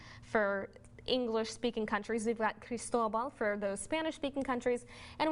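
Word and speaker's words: Cristóbal: little bit different and another thing it is pronounced crystal ball with the accident over the Oh many people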